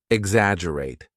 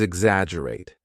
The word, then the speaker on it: exaggerate: Word number seven is exaggerate. Now repeat after me. Exaggerate. Exaggerate. Remember there is a double G in the spelling but we do not pronounce the G strongly.